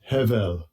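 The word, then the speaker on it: הבל: So, vanity here, we see it's pronounced Strong's H, 1892. Hevel, Hevel.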